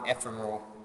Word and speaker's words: ephemeral: On line 70, challenging conditions for an ephemeral. These are. I wonder what the word ephemeral, or how do you pronounce it again?